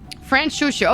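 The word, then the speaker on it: Franchouchou: Fran Shushu.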